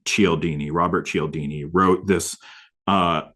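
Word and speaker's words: Cialdini: Um I think his his last name is pronounced um Chelini.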